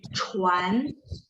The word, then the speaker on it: 船: 船， Yes, CHUAN, A-nya tidak berubah ya, tetap cuan.